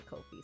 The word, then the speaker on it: Ko-fi: And if you'd like to support me on Ko-fi, Ko-fi rhymes with no fee.